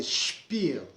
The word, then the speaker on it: Spiel: Então essa junção de letras, ela vai se pronunciar como SCHP, mas se estiver no começo da palavra.